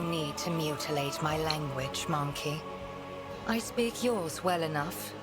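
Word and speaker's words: Mon-keigh: Keep forgetting that this game has it pronounced as monkey, because a lot of people say it's pronounced monkai.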